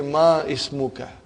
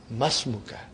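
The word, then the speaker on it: ما اسمك: ready masmukha remember hamdul it will be incorrect to say ma ismukha you should say masmuka comes in the beginning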